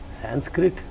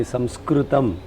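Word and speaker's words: संस्कृतम्: I told him Sanskrit what is that? He said then I realized immediately that I pronounced it in an English way. I said no sorry apologize swami samskrutam samskrutum.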